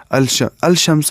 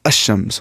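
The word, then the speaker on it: الشمس: We will not say al-shamsu is pronounced as ash-shams. We will not say al-shamsu. We will say ash-shams, because sheen is from huruf shamsi.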